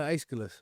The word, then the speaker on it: Aeschylus: No, Aeschylus.